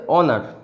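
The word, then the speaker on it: honour: কীরকম যদি বলি, এটার উচ্চারণ হচ্ছে অনার, উচ্চারণ হচ্ছে অনার, এর আগে কিন্তু অ্যান বসবে, কারণ কি এর উচ্চারণটা অ দিয়ে শুরু হচ্ছে। যতই এইচ থাকুক না কেন, এইচটা অ এর উচ্চারণ নিচ্ছে, হয়ের উচ্চারণ নিচ্ছে না। এটা উচ্চারণ কখনই হনার এটা হবে না।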